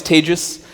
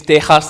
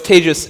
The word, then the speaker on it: Tejas: My name is TEJAS. That's pronounced like contagious. I know it's Spain, and we think it's TEJAS. It's not. I am not roof tiles. I've been confused for roof tiles, but it's TEJAS, and I run a